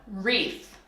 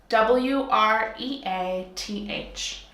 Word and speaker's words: wreath: circle is called up wreath WR EA th but because English loves to be crazy you don't pronounce the W the W is silent okay so we're gonna